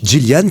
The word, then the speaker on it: Yilian: Gillian, qui s'écrit Iliane pour les Français. Hein. Oui, Y-I-L-I-A-N. Voilà, on se plante toujours. Hein. Oui. Moi-même le premier, la première fois qu'on s'est parlé. Gillian, en tout cas bravo